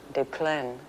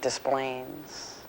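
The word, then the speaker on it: Des Plaines: that drifted in later des moines and uh of course hopelessly mispronounced uh it's a perfectly lovely french town de plein we say displayings yeah and to my ear that actually sounds very nice it's all flattened out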